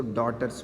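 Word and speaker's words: daughters: टी सी आर एस जिसमें silent होता है पढ़ा नहीं जाता है इसको डॉटर्स बोलते हैं डॉक्टर मतलब बेटियां है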